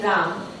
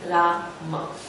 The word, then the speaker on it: Rama: And people think that they have to correct our pronunciation because we don't say Ram, we say Rama.